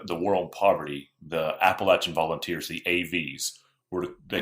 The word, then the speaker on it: Appalachian: to ask you Paul how do you say that it's for us it's always appalachin um it's always Appalachian yeah now granted if